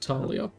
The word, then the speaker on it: Thalia: Thalia. Pronounced Talia.